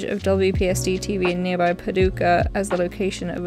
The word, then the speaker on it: Paducah: Yeah, it's Paducah.